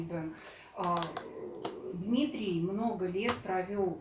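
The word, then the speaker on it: бён: Мы все привыкли говорить бон, и отучиваться нам, наверное, может быть, и не надо. Но на самом деле, вот Дмитрий расскажет, что правильное произношение бен.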